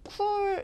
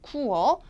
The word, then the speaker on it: cool: 뚜렷하게 획일화 돼 있어요 자 쿨 할 때 이거를 쿨다는 모음으로 읽으시면 안 되고요 자 쿠 자 이중 모음으로 늘려서 읽어 주세요 그래서 콜라는 춥다라는 그 발음하기 좀 쉬운 단어에 비해서요 많이 나오는게 시원하다 혹은 따뜻하다 할 때 warm 있죠 또 발음을 받침을 제대로 주신 분들이 거의 없기 때문에 자 나오는 단어들이 정해져 있다고 말씀드렸어 잘 보세요 자 시원하다 다시 해보세요 어가 되겠죠 쿨 아니고 쿠어 쿠어 그다음 따뜻하다 warm War 어